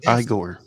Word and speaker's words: Igor: in the day when Igor Sikorski first built the helicopter was very similar you had to Pedal them with your feet it's pronounced igore this fly this way